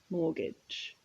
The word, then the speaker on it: mortgage: look at the word mortgage so this is a loan to buy a house and the pronunciation you'll notice the t is silent mortgage so this person perhaps